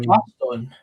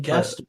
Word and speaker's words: Gaston: good save by Derek Gatson in the Arbroath goal. Isn't that Gaston? Derek Gaston. You've been saying Gatson the whole stream.